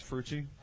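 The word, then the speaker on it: Fruche: you didn't say my name right last time. It's Frucci.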